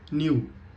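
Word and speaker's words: knew: कीकार देता है बट शी न्यू में के साइलेंट हो जाता है ये नो की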